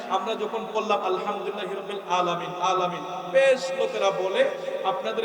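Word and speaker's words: العالمين: আলহামদুলিল্লাহি রাব্বিল আলামিন, এখানে আছে আইন।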